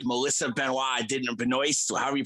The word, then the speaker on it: Benoist: to play Supergirl, and then pretend like Melissa Benoist, however you pronounce her name. Benoist, yeah.